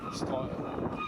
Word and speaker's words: Strøget: Maybe I'll get Tony to pronounce it because he's actually Danish. Strøget.